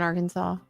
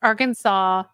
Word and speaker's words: Arkansas: he doesn't know yes Arkansas no Arkansas is a state yeah and it's actually it's actually spelled like this ar ar Kansas Arkansas Arkansas but we leave the S off we just say Arkansa